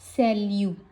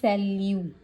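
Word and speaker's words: salut: सो टी को हम pronounce नहीं करेंगे। एज ए मैंने आपको यहां पे बताया था कि ओनली अगर ये एंड पे आएंगे इनको प्रोनाउंस करेंगे। हम टी को प्रोनाउंस नहीं करेंगे। सो इसका मैंने प्रोनाउंसिएशन भी यहां पे लिखा है। एस सेल्यू। सो इसको इसको हम बोलते हैं सेल्यू।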